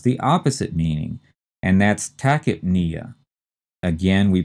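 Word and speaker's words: tachypnea: next term has the opposite meaning and that's takip Nia again we pronounced the first two syllables tacki and the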